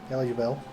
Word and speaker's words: Eligible: that how you pronounce it? Eligible. As in eligible.